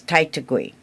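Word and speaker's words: Taitague: And it is Titui. Oh, that's beautiful. I've never heard that. Titui. How do you spell it?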